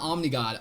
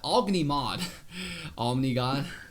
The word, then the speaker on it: Ognimod: Not Omnigod, Ognimod. Ognimod, excuse me, for the pronunciation of Ognimod's name.